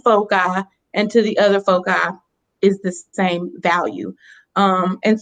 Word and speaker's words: foci: It's very important to know that there are two fixed points in the plane called foci. That's how you say it when it's plural.